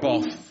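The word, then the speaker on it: Bough: I should tell you my name is spelled B-O-U-G-H, not you've misspelled my name. You go, no, it's Boff.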